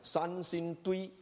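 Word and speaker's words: Sanxingdui: I don't know how to pronounce it. Sansingtui.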